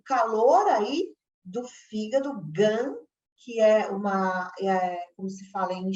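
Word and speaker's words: 肝: O yin e o yang é presente na medicina chinesa, então é o calor aí do fígado, gan, que como se fala em chinês, fígado, devido a uma deficiência de quem?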